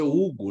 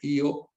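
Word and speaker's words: Hugh: e o Everest e para nós é Hugo né mas a pronúncia me parece que a pronúncia mais correta americana né ele era norte-americana é Yo Everest então o Everest em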